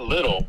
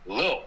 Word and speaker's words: Lil: And then Lil Jordan Humphrey. I don't know. Something about what is... Be careful. You got to pronounce that right. It's not little. It's Lil.